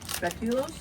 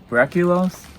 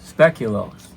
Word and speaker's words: speculoos: Oh, these are are rel re How do you pronounce that? Speculos. Breculos. Speculos. Speculose with an s.